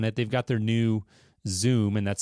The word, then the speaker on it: Zum: They've got their new Zoom, and that's spelled ZUM, wireless lighting control solution.